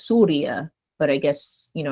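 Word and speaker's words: سوريا: place yeah Syria um I know in Arabic it's pronounced as Surya but I guess you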